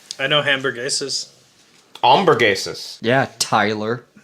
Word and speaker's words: hamburguesas: I know hamburguesas. Hamburguesas. Yeah, Tyler. You don't pronounce the H. Yeah. It's not. Doesn't start with a J.